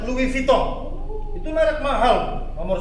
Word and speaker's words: Louis Vuitton: Louis Vuitton. Bukan Bu, itu dibacanya Louis Vuitton.